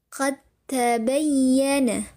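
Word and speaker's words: قد تبين: Dengan dileburkan langsung kepada huruf t-nya. Jadi bunyi dal sukun atau pantulan dari huruf dalnya ditiadakan. Qad tabayyana.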